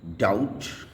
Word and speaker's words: doubt: बी अगर टी से पहले आता है तो ये साइलेंट हो जाता है, जैसे कि DOUBT डाउट, DEBT डेट।